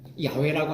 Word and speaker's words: 야훼: 야훼라고 하는 말은 히브리어를 발음나는 대로 야훼라고 적었어요. 우리나라 성경에는 여호와로 번역을 했어요.